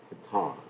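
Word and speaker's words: Pitṛ: Pitta, it's actually how you say it, Pitta. Pitta.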